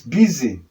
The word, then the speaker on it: busy: Then we also have busy. This is busy. You see now? So, the letter U here is sounding E in this word, but not in all English word. Look at the pronunciation. Busy. Busy. You can see that. The letter U and letter Y here is what? E and E.